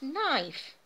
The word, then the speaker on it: knife: I can't cut anything with this knife. K, silent letter, you know.